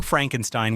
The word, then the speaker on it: Frankenstein: My name, it's pronounced Frankenstein. Young Frankenstein wasn't just a parody of classic horror.